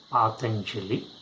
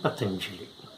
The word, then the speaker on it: Patanjali: potentially is the name potentially can be pronounced in two ways part Anjali and potentially both pronunciations are correct but I would use